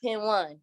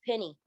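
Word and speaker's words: Pen1: oh social p-e-n-1 is not pin one it's penny you think of like myspace days and it's a lot to think of but just know it's penny it's pronounced penny pennypro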